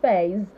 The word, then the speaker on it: phase: all the word examples some words with the letter S sound that's the voiced consonant sound words like um was